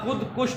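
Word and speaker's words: خودکش: तो लफ्ज़ है खुदकुश। लफ्ज़ क्या है? हाँ, खुदकश गलत है, खुदकश गलत, खुदकुश दुरुस्त।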